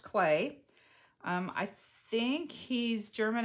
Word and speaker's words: Klee: it's actually spelled k-l-e-e so it looks like it should be clea but it's pronounced clay um i think he's